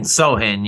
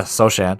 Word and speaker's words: Sochan: Well, him and Sohan, yeah. Oh yeah, Sochan. They got some good. No, it's Sohan. Is it Sohan? Or Sohan? Yeah. Sohan. Yeah, the C is silent. C is silent C.